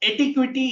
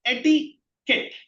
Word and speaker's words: etiquette: It's not etiquity. It's not etiquetty. It is etiquette.